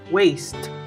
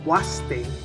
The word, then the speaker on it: waste: dice desperdicios en inglés si has dicho un waist estás en lo correcto waist es lo correcto si dijiste waste waste entonces necesitas practicar un poco más y entiendo que